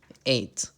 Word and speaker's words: ate: Eat, ate. Remember, you pronounce this word like the number 8.